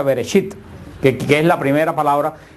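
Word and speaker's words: בראשית: Por eso el libro de Génesis en hebreo se pronuncia Bereshit, que es la primera palabra que sale de la revelación de Dios, que quiere decir en el principio.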